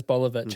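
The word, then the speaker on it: Boljevic: His last name is Bolovich and it's spelled B O L J E V I C. Bolivich.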